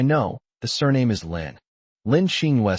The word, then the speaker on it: Lin: This character is pronounced Lynn.